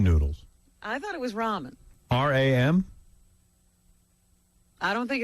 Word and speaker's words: ramen: They're called Roman. I didn't know that. Like Roman numerals. Yeah. I don't think they're Roman. Ramen.